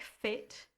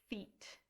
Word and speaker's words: fit: The next word, it looks like fit, but it's feet.